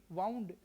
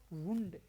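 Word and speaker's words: wound: वाउंड डब्ल्यू ओ यू एन डी वाउंड। यह पहली बात तो वर्ब के रूप में वाउंड नहीं बोला जाएगा। यह बोला जाएगा वुंड।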